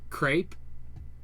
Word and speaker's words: crepe: There's crepe. Crepe, but that's also spelled differently though. It's spelled differently, but it still rhymes with grape.